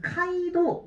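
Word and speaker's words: 街道: 두 개의 음이 있는데 가도라고 해서 카이도 이거 하나 빼시면 돼요.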